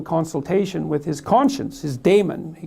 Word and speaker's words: daemon: And then he went off and had a little consultation with his conscience, his daemon, he called it. I think you actually pronounce it demon, but it means conscience for our purposes.